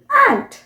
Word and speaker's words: aunt: चाची या मामी, आंटी जिसे हम बोलते हैं। सो AUNT ब्रिटिश प्रोनाउंसिएशन हुआ आंट, आंट, और अमेरिकन प्रोनाउंसिएशन एंट।